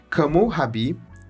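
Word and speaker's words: Hammurabi: Kamu Rabbi, pronúncia em babilônio, foi fundador do primeiro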